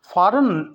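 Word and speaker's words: foreign: line है और हम फॉरेन में एफ ओ आर आई जी ये दोनों लेटर साइलेंट है इसको फौरन पढ़ेंगे फौरन का मतलब है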